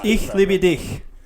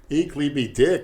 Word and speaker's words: Ich liebe dich: it's Ich liebe dich. Ich liebe dick.